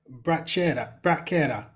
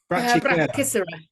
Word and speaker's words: Brachycera: And lower brachyera. Brachycera. Yeah, my advice with pronunciation is just do it really fast.